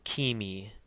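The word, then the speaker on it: ⲕⲏⲙⲓ: a C Sound and this word is Kimi Kimi again remember Thea which is the second letter in this word has a long e sound like seek so this is Kimi and Kimi means Egypt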